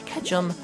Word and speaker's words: Ketchum: Because, as we all know, as Charizard was once a Charmander, and he was still loving of Ash Ketchum, because it rhymes with ketchup.